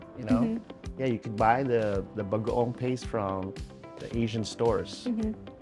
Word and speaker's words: bagoong: And how do you pronounce this one? Bagoong. Bagaong.